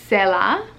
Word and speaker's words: Sela: Sela. C'est la vie. It's kind of like that. Like, it's not spelled like that, but it sounds like that.